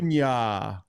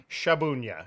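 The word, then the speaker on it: Szabunia: Sabunya. Yeah, it's just a part of my name, Sabunya. There's a Z in there, so we don't kind of pronounce it.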